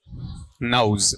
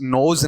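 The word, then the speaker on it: nose: नोज नहीं है, ये जो आपका प्रोनाउंसिएशन आप पढ़ रहे हैं ना, यहां पर गलती हो रही है। नोज है या फिर नौज है? नौज है, नोज नहीं होता ये, ठीक है।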